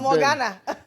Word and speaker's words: Ghana: But Ghana. yeah, that's exactly how you pronounce it.